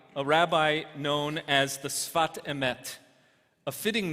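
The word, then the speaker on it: שפת אמת: the rabbi from Ger, is better known as the Sfat Emet, or, if you prefer the Ashkenazi pronunciation, the Sfas Emes, which is the name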